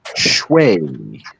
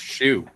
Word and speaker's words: Xue: It is pronounced Shui. Oh, I would have guessed shoe.